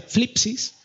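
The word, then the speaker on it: θλῖψις: Y la palabra griega que se utiliza en este caso para definir tribulación es una palabra un poco rara, se llama o se pronuncia flipsis, tiene mucha relación con aflicción, ¿vale?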